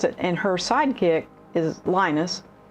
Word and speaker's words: Linus: and her Sidekick is Linus I think he pronounces it Lena's but I'm not sure but anyway he's huge